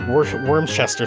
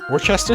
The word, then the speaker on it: Worcester: It's like Wormchester sauce. Worcester sauce? Wormsister sauce.